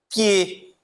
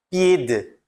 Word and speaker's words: pied: Pie, mesma coisa. Eu não vou falar pied, mas sim pie, tá?